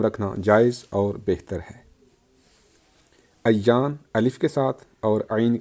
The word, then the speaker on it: ایان: عربی لفظ ہے لیکن اس کا تلفظ الف پر زبر اور یہ پر تشدید کے ساتھ ہے، یعنی ایان ہے، اور کلام عرب میں